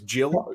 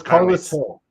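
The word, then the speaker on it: Carles Gil: I thought it was Jill, but it's Carlos Hill.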